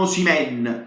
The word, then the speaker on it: Osimhen: Confermiamo Osimhen con l'accento sulla E stavolta, lo confermiamo al centro.